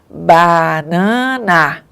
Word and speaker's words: banana: Então, nós temos 3 As na palavra banana e não pronunciamos do mesmo jeito. Um A é oral e os outros são nasais. Então, o ar saiu pela cavidade oral no primeiro A e depois no outro foi nasal, tá?